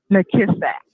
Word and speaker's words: McKissack: McKissack. McKissack, as it is spelled.